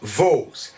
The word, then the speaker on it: vaux: rien de valve s'est d'abord prononcé vase puis l'articulation dual puisqu'on sommes à évoluer vers le son os c'est une vocalisation on dit vaut les scribes avait l'habitude